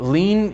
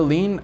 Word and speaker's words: lien: me me personally that lean if i hear the word lean i will not remember that it is spelled l-i-e-n so that's a word